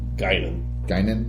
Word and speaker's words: Guinan: Is it pronounced Guinan? Whoopi Goldberg's character? Guinan. Guinan, yeah.